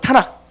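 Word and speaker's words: Tanakh: 그래서 요 앞에 글자를 따서 뭐라 부르냐면 타나크 불러요. 타나크. 이게 원래 지금도 유대인들은 구약이라고 부르지 않고 타낙이라고 불러요. 타낙.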